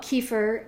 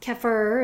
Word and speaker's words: kefir: So think of we call it Kefir, but it's Kefir is really how it's said for real, but we call it Kefir in America.